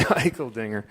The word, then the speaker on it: Eicheldinger: I was hoping somehow that would be pronounced differently, but it is actually Eicheldinger.